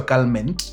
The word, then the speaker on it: Calment: Calm inapronounciziwa Calment.